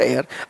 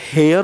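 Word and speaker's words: heir: क्या होता है आपका एयर। अब ये कुछ इसका प्रोनाउंसिएशन कुछ इसके तरह होता है, एयर जैसा होता है, और हम लोग बोलते हैं क्या, हेयर होता है।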